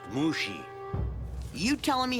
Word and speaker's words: Mushi: Mushy, is it? It's pronounced Mushi.